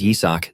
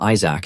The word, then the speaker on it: Yisak: Even though his name is Yisak, these guys always pronounce it wrong and call him Isaac instead.